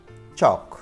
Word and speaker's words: chalk: Third, chalk. Silent letter is L.